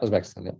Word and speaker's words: Uzbekistan: you Uzbekistan, did I say that correctly? Yeah, Uzbekistan.